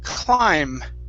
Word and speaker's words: climb: of clean this is climb climb climb okay now the b is silent at the end we do not want to pronounce that it's climb climb climb okay all right